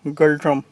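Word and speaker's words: Ngultrum: भूटान की करेंसी है निगल ट्रम या गल ट्रम, एंड अगर साइलेंट कर दे।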